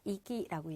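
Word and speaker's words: 息: 자, 발음은 우리가 뭐라고 한다? 이기라고 얘기를 해요.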